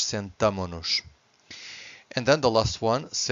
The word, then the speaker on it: sentamo-nos: See that this S disappears from the conjugation. This would be too much shush, even for us would be too much shush. So would be nós sentamos-nos would be too much. So the right way to say it's nós sentamo-nos.